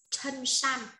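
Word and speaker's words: 衬衫: Áo sơ mi đọc là chân san, cho nó có từ áo sơ mi ạ, đọc là chân san.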